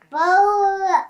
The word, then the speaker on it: Beau: Bow. Yeah, that's how you spell it.